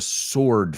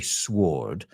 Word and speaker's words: sword: At least I've heard people say sword, but it sounds really weird to me. We would say sword. The W is silent.